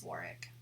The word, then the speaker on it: Warwick: Or Warwick. Instead of Warwick, it's Warwick.